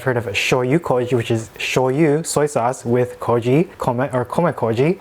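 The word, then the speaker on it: 醤油: So like shoyu becomes joyu when you add like wasabi joyu or nira joyu. That's usually something added to shoyu.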